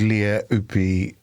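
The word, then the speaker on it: Lea Ypi: I did an interview with Leah Upi on The Bunker. Oh, thank you for pronouncing that correctly.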